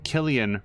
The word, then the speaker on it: Cillian: In this first entry, Anton describes how Killian recruited him. I'm going to go with Killian, by the way, because that's how Cillian Murphy's name is pronounced.